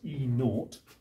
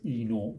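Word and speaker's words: E°: the conditions and that usually gets pronounced as e naught so these are sometimes referred to as enote values okay right well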